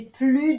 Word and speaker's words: plus: On ne prononce pas le S quand plus est devant la préposition de et un nombre. Par exemple, c'est un arbre qui a plus de 500 ans. J'ai plus de 20 kilos de bagages.